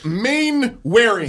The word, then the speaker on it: Mainwaring: Speaking of gay, yesterday we had Doug Mainwaring. Whoa. Mainwaring? Mainwaring. Warring. Yeah, Mainwaring. You no, kept on doing saying Warring, and he told you.